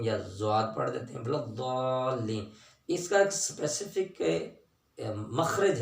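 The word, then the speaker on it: الضَّالِّين: والے دانت ان کے ساتھ لگائیں گے، اصل تلفظ اس کا نکلے گا بلضالین، ٹھیک ہے جی۔ تو اس لیے عام طور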